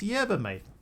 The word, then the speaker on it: yerba mate: Just learned how to pronounce it correctly. It's yerba, mate.